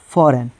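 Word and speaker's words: foreign: यहाँ पर फिर एन से पहले जी आ गया, तो यहाँ पर जी नहीं पढ़ाएगा, इसको हम लोग पढ़ेंगे लोग फॉरेन।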